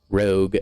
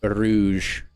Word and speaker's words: Rogue: Rogue, not Rouge. I think that's how you pronounce that word. Rouge. That's like the character from Sonic.